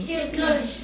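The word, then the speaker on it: technology: مينتس مينتس تكنولوجيا تكنولوجي تكنولوجي في تكنولوجي بنطق السي كي والإتش سايلنت أو بنطق السي إتش مع بعض كده زي حرف الكي يعني يعني الإتش هنا سايلنت ثاني ثاني ثاني دقائق مينتس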